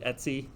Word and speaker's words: etc: Sometimes you'll hear people pronounce it Etsy, but I guess like, etc. Yeah, short for etc.